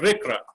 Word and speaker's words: RCRA: called resource conservation and recovery act it's called rikra you know or rcra it's called pronounced as a recruit and there were some